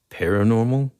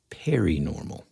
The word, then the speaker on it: paranormal: this every time, but you just said paranormal. You pronounced it perinormal. I do not. I'm going to hit the rewind button right now, and we're going to prove it. 80s and 90s nostalgia, comic culture, all things paranormal. All things perinormal. Definitely, dude. Sort of like periwinkle.